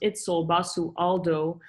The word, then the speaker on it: Itzel Basualdo: This outsider is head curator, Itzel Basualdo, commonly pronounced Itzel Basualdo.